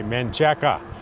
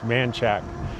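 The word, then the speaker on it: Manchaca: And it's spelled if you saw it and you didn't know any better, you'd say Maneka. That's how we can tell people aren't from there when they say Maneka. It's Manchack.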